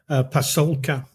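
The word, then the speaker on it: Pasulka: So it's a book by Diana Pascula, I think you pronounce her name. So look, Pasolka, Diana Pasolka.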